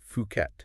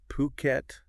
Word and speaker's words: Phuket: interesting they're based in fukat fukat okay and uh it's puket not fukat just a little pronunciation note there a good to know